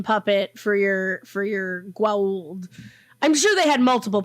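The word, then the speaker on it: Goa'uld: the gold but yeah am i saying it right growled uh yeah no that's how they say it on the show it's not like elliot gould okay and then yeah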